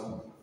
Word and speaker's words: coup: A coup, that's French, eh? Mm-hmm. Pronounce coup, a coup.